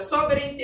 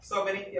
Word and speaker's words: sovereignty: Hindi siya sovereignty. Walang I dyan. It's sovereignty. Sovereignty.